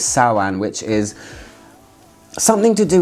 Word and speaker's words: Samhain: this one which is called sawan it's spelled samhain but it's saoan which is something to